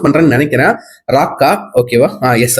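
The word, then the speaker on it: Raka: நான் கரெக்டா ப்ரொனவுன்ஸ் பண்றேன்னு நினைக்கிறேன், ராக்கா. ஓகேவா? எஸ், ராக்கா.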